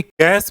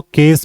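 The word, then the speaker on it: cache: इसको केस memory भी बोलते हैं, केक मेमोरी भी बोलते हैं, कैशे मेमोरी भी बोलते हैं, कई तरह से लोग प्रोनाउंसिएट करते हैं, आप जो चाहे बोल सकते।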